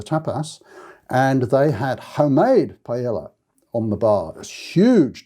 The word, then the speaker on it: paella: pizza sorry it's paella which in spanish double l would be pronounced paella so when you see